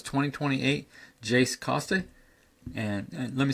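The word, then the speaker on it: Koste: Again, it's 2028 Jace Costa. And let me spell that last name.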